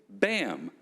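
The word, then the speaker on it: BAAMT: thing as a ps how do you pronounce b-a-a-m-t and just say bam the t is silent if you want any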